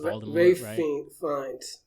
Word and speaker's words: Ralph: And stars Ralph Fiennes, who it's pronounced Ray Fiennes.